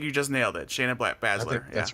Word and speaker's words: Baszler: night you think you just nailed it Shayna Baszler that's right sir okay well we know her